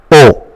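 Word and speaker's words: eau: in French it is called o just like English o that is written as e a u but you just say o o I would like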